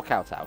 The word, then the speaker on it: kowtow: Getting straight on koto. Or kowtow, depending on how you want to pronounce it.